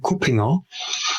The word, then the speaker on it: Kuppinger: If it's about the correct pronunciation, it would be Martin Kuppinger, but most struggle with that, so just go ahead the way you prefer.